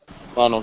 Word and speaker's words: Philando: He was right in the position where if Philando, is that how you pronounce it? Philando, I think right now. Philando, thank you.